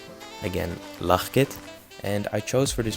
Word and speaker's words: Lachkid: actually pronounce it well it is a dutch name and dutch is actually a very difficult language to learn the way that i pronounce my name is lachit and i chose for